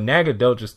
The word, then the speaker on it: Nacogdoches: At least I think I did, because I think that's the pronunciation there. But Nacogdoches, Texas, that's where Stephen F.